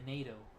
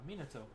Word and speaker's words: Mito: uh Mito they said meno and I was like oh actually it's pronounced uh Mino like Mina and then toe Mina toe and then